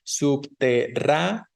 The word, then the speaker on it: subterráneos: Lo mismo que subterráneos, recuerden que la E y la O se separan porque son hiato, entonces tenemos subterráneos, ¿no?